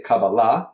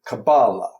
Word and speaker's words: kabbalah: in pronunciation is um hebrew is what has stress almost called the ultimate syllable so we say kabbalah okay and yiddish is penultimate kabbalah okay so therefore there are completely valid two different ways of saying most words yiddish accented or hebrew okay so now kabbalah